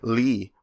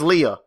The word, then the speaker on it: Lea: was playing with fucking Lee and Isa. Fucking Lee. His name's Leah. How dare you? I don't care how they pronounce it in the game. It's fucking Leah.